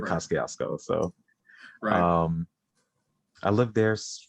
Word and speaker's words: Kosciuszko: i was you know called the kosciuszko but apparently the train station like the the voice is called it kazusko i still never changed it i always called it cascasco so um i lived